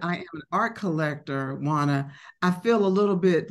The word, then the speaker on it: Juana: not pronounced your name for me is it wanna or how do you pronounce your name it's Juana you said it write the verse yeah okay